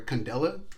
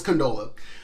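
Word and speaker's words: Condola: I just would say I always say condolence name wrong in other videos I think it sometimes I call her Candela but it's canola Oh Mike canola in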